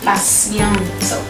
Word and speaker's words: patiente: The T here is pronounced like an S. You don't say patiente or patiente, but elle est patiente.